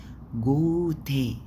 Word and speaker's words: Gute: وفي جوتي، جوتي ناخت، جوتي مش جوتن، جوتي ناخت، جوتي تي، جوتي عشان دي الاي بتاعت الانجليش بتنطق اي كأنها اي انجليش.